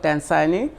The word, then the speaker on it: Dansani: So yes, it's the name of the company is called Dansani.